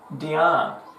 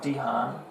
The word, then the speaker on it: Dion: Also known as Diz, Fizz, Toes, and Dion. Not Dihan, Dion.